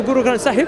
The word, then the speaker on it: Guru Granth Sahib: And also, I believe, like in the Guru Granth Sahib, have I pronounced it right?